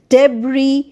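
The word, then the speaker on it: debris: এস ওয়ার্ডস like island আইল ভাই count আইল ডেব্রি বুজুয়া তাহলে আমরা লিখছি এস কিন্তু উচ্চারণ করছি না তো সাবস্ক্রাইব করতে ভুলো না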